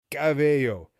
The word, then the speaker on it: cabello: So when we add the visual, a cab, and the sound A plus yo, we get cabello.